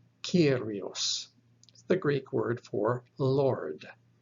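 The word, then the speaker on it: κύριος: examples the first one kappa ipsilon iota omicron sigma pronounced kyrios the greek word for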